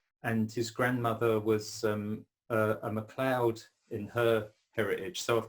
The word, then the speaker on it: Macleod: Macleod, I've heard a lot as well, which is, I guess accurately it should be called Macleod, but MacLeod is fine.